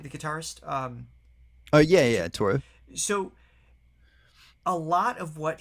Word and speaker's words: Toru: Yeah, Toru.